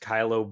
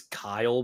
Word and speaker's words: Kylo: a while ago where we accidentally uh mispronounced kylo Ben as Kyle Ben those RS him Kyle